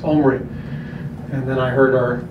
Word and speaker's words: Omri: He said, it's Omri. And then I heard our broadcasters call him Omri all year.